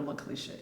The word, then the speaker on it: Laklieshia: dr could you tell us a little bit more about yourself absolutely and again thank you for pronouncing my name correctly i am dr lakalisha and i am running for georgia state